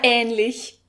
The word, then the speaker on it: ähnlich: The problem with this word is that the ä is pronounced really long, so some people want to put an extra h after it, since this is what they are used to with other German words having long vowels.